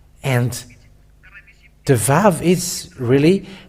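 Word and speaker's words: ו: the Aramean word that the letter Vav, it is pronounced V. And it is clear with that the Holy Scriptures say that Aramean has pronounced the word Vav, V-A-V, and it doesn't change to U.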